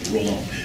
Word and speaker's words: Roland: But when Montcalm enters military service in the 18th century, the ideal of Roland, I'll just say it in English pronunciation, Roland, the idea of Roland is sort of endangered, right?